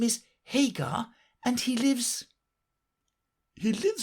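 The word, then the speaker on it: Haigha: His name is Hagar." He pronounced it to rhyme with mayor.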